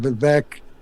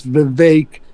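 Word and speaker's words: Vivek: Uh it's all the people keep calling him VC and different thing. It's Vake. It rhymes with cake.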